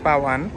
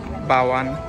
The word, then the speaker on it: Bao'an: যেটা আমি বলছিলাম তো চাইনিজের আসলে বি কে বলে পি সেজন্য আমি উচ্চারণটা করতেছি বাওয়ান নরমালি আমরা যদি ইংলিশে বলি সেটা হবে বাওয়ান সামনে যে কৃত্রিম